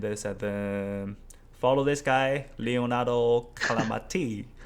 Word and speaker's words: Calamati: How to pronounce this in Italian? Leonardo Calamati. It wasn't too bad the way you pronounce it. Okay, it was quite right. Leonardo Calamati. Okay, yeah, that kind of the rhythm in the Italian pronunciation. Calamati.